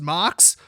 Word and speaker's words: MOCS: Also, it's called the MOCS, which is pronounced Mox.